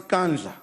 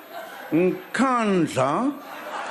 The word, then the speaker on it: Nkandla: You know, some people who could not pronounce Kandla, they've now learned Nkandla, Nkandla, Nkandla.